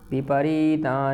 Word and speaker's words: विपरीत: केशव निमित्ताने ज पश्यामी विपरीता नि केशव विपरीत यहां थोड़ी दीर्घ ई है बड़ी ई है तो विपरीत आनी केशव